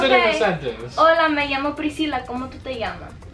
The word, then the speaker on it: me llamo: That's mi amo, right? Why are you saying amo? Like, that means no. Huh? How do you pronounce it?